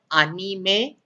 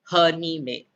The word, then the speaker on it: anime: all have good vocabulary as well so it's pronounced as anime and not herni me it's pronounced as anni correct so indo as